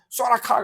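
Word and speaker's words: θώραξ: 호신경 소라카라 그래. 소라카. 어떤 사람은 이게 발음이 잘 안 되니까 이건 TH 발음이니까 스 발음인데 그 다음에 라카.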